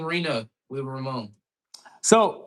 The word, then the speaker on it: Reno: Where did you get the uh Where did you get the name Reno Wood Remodeling? So, it's actually uh It's not Reno. It's It's Reno. Uh short for renovating or renovation.